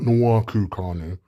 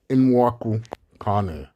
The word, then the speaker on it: Nwankwo Kanu: Yeah, that's right, not Nwankwo Kanu. Nwankwo Kanu. Yeah, that's right.